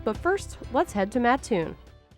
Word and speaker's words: Mattoon: first let's head to matun matun often pronounced maton by Outsiders is just 10 miles